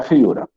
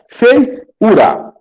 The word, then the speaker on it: feiura: tongo Então olha só para ser iato o que vem antes tem que ser uma vogal não uma semivogal Fei ura Então esse I antes do U pessoal ele não é uma vogal ele é uma semivogal Fei ura bai UCA